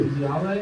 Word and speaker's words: Veneziale: Veneziale? That's me. Veneziale? Did I say it right? Yes, I'm from Lansdale.